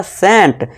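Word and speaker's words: scent: Example देखिए, एससी आ गया, जी हाँ, और उसके बाद क्या है, ई है, जी हाँ दोस्तों, तो इसका क्या उच्चारण होगा, सेंट।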